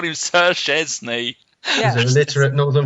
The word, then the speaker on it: Szczęsny: You can't say it phonetically because it's Szczęsny. What's The SZ is a sh, the ZZ is a sh, so sh, and the E is EN, Szczęsny.